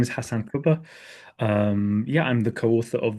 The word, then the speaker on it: Hasan Kubba: So, in this episode, I am very happy to have as our guest Hasan Kubba.